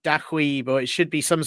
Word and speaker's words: Douieb: I pronounce it Douieb.